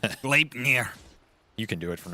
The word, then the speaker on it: Gleipnir: You got to put a little I in there. Gleipnir.